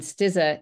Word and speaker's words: Stizza: And Stizza is spelled just like pizza, but not with a P.